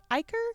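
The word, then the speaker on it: ichor: is almost like um probably going to pronounce this word wrong an icker at this point Iker that's correct that's right yeah you're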